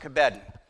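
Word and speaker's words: כָּבֵד: The word that is there for honor is the word, we would pronounce it kabed.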